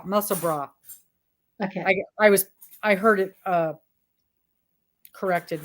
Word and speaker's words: Musselburgh: But it's not pronounced bird, it's bra, Musselburgh.